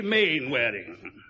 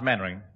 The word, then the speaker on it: Mainwaring: You must be Mainwaring. Oh, how do you do, Colonel? Actually, it's pronounced Mannering.